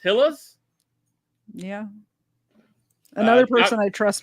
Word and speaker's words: Gila: I think it's pronounced with an H, though.